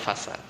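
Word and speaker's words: فساد: Jadi insya Allah kita lanjut lagi nanti di pembahasan selanjutnya itu fasid, ya, fasid atau fasad, kalau yang sinnya panjang bacanya fasad.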